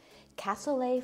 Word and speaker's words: cassoulet: like making that day cassoulet for everyone today if you say it right it rhymes Castle a is a common